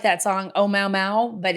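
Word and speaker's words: ʻOumuamua: so aptly pointed out I'm going to try to pronounce it it's oh Mao Mao and it sounds like that song Oh Mao Mao but it's not it's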